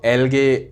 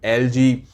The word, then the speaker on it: algae: दोस्तों, एल्गे, एल्गी, एलजी, ऐसे अलग अलग प्रोनाउंसिएशन से लोग इसे कहते हैं, क्योंकि कुछ लोग अमेरिकन इंग्लिश कहते हैं तो कुछ लोग ब्रिटिश इंग्लिश कहते हैं, पर हम ठहरे इंडियन।